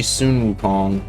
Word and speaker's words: Sun Wukong: I just said his name wrong for 2 times in a row, but it's actually Sun Wukong.